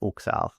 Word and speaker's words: Huxal: So it's pronounced Huxal. So the H is silent.